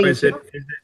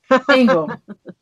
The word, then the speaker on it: Angle: Go ahead, Angel. Is it Angel or Angle? Angle.